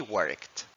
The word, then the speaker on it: worked: nuevamente al verbo work le agregamos Ed y no se pronuncia esta e we worked She checked her email